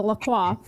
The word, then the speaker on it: LaCroix: croix guys it's a lacroix and then our friend goes look on the website it says lacroix sounds like enjoy or something yeah so whoever that